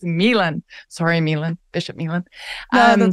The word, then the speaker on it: Milan: Bishop Milan. Milan. I always want to say, I'm always like Fashion Week in Milan, but no, it's Milan.